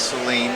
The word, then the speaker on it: Saleen: Yeah, for for those again I'm Steve Seline. It's S A L E N. You pronounce it as Seline like in gasoline.